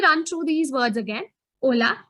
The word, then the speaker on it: hola: through these words again hola h is always silent remember that buenos dias